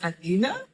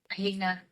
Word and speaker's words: Alina: My special guest is Alina. Alina, how do you do you pronounce the same name? Alena South Africa say Alina.